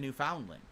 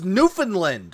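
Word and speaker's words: Newfoundland: when I went to New Foundland and then it expired ages ago you said it was newfinland which that's how it's pronounced not new found land I haven't renewed it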